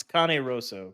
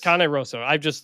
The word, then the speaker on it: Cane Rosso: our colleague, went to, I pronounce it Cane Rosso, the pizza place. Don't say that out loud in Dallas. It's Cane Rosso, Chris. Cane Rosso.